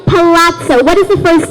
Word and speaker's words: palazzo: try to spell the word this word is pronounced as Palazzo I think let's do this word with the